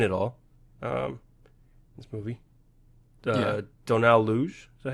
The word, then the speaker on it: Logue: Donald Luge, is that how you say his name? Oh, yeah, Donald Logue Donald Logue, yeah.